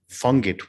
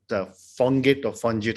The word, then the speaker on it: FONGIT: So at FONGIT, it is pronounced FONGIT because of the French language, of course, we are a private foundation, nonprofit, completely supported and funded by the state of Geneva.